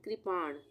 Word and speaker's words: कृपाण: अगर हम क्र बोलते तो इस तरह से ये वाली मात्रा लगती क में, पर यहाँ पे हम बोल रहे हैं कृपाण।